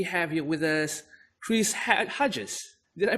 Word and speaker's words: Hartjes: and today we have you with us Chris head Hodges did I pronounce that right yes you did absolutely correct